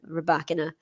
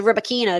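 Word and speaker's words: Rybakina: ago and then i realized that it's kalina rebecca yeah i know a lot of people say rubber kinah don't they but uh that's not how she pronounces it ah okay i get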